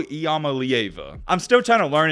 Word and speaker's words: Iamaleava: doing some research and i've heard people pronounce his name this way as nico iamalieva i'm still trying to